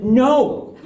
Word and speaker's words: know: Well, why is there a K in no?